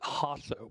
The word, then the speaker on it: Hasso: My name is Hasso, pronounced with the H sound.